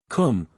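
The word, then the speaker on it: Koom: immortal Spirit viia immortality Kum pronounced like the Welsh Kum denotes something of holess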